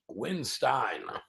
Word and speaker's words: Windstein: say your name real quick Kirk winstein or Weinstein winstein winstein okay I want to get that clarified